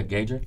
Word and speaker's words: Gaugr: into it let's talk about um is it pronounced engager yeah gauger let's talk about gauger shout out some people